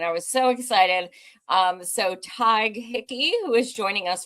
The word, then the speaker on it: Tadhg: So Tadhg Hickey, who is joining us from Cork, which I love so much. That was one of my favorite places when I went to Ireland. Thank you so much, Tadhg.